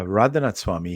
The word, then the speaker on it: Radhanath Swami: How do you pronounce it? Radhanath Swami? Radhanath? Yeah, Radhanath Swami.